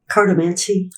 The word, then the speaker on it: cartomancy: But today, Terry has been studying carttomancy. Am I pronouncing it correctly? Cardammancy. Cardammancy.